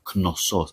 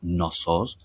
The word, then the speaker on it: Knossos: It's pronounced The K is pronounced We say Knossos. It's not Gnossos as in the word no.